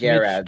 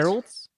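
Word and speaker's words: Gerads: Garads. Mitch Geralds?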